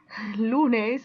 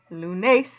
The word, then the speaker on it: lunes: not madre it's hard to say them wrong lunes not lunas and hoben not hoban rule number two if